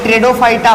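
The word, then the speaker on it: Pteridophyta: ट्रेडोफाइटा में पी आपका साइलेंट है, इसीलिए इसका प्रोनाउंसिएशन हम टी से करते हैं।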